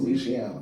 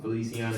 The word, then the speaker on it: Feliciana: Uh so now after that one, we got Ash versus West how you pronounce that. Felicia Feliciano. Feliciana.